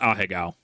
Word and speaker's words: Ahegao: However, it is pronounced Ahegao, very much so, and it is art.